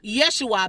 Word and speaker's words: Yeshua: So Yeshua, beginning with the E sound, right? If that's a Y to you, right? That would most likely, to most of us, that's the Y sound.